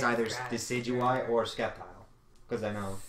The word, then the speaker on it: Sceptile: Oh, it's yeah, either Decidueye or Sceptile, because I know... Sceptile. Well, actually, no, he's not. No, Blaziken's the popular for no, that. No, I mean... well, no, it's not Sceptile.